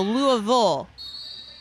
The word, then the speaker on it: Louisville: Lua it's for Louisville I've got a pronunciation guide guide It's Lou so Louisville I want to say